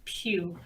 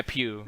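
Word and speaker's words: Pugh: i'm like a plug apparently it's florence puke yeah yeah pew yeah but yeah like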